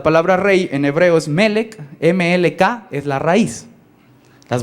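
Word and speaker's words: מלך: La palabra rey en hebreo es melek, M-L-K, es la raíz. Las vocales no cuentan mucho en hebreo, van a contar después. Pero entonces la raíz es M-L-K y se pronuncia melek.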